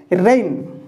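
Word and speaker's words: reign: तो एठी कौन पढ़िवा रेन रेन रेन रो अर्थ होची कोनो राजत्व करिबा ओके तो आर ई आई जी एन जी को साइलेंट करिकि रेन बोली पढ़ा जीवो रेन रो अर्थ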